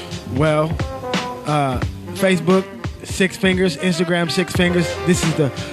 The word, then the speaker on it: Six Fingaz: for me please well Facebook six fingers Instagram six fingers this is the right pronunciation the number six i X F I